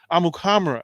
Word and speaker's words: Amukamara: this thing that's happened all this time right amukamara is the actual pronunciation yeah so okay well thanks during that